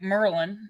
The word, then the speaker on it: Maryland: what BR all right Merlin you gotta say it right okay because I'm from